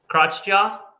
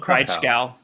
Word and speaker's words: Kraichgau: How do you say this, Mark? I'm sure you've raced there before. Crotchjaw? Is that not a Kraichgau? Kraichgau. Oh yeah, Kraichgau.